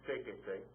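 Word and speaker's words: séquese: So you have seke, add the se to it, you have sequese, stresses on the third syllable back, add the accent mark.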